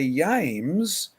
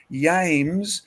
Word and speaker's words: James: could have the king james version but if you try and say yames i mean one reason